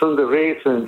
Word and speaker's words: Sundaresan: I usually tell people if you can't pronounce Sundaresan, just think of sun-dried raisin.